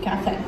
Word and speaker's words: café: So, and that is spelled, for Portuguese, or in Brazil, it's café. C-A-F-E, café, yeah.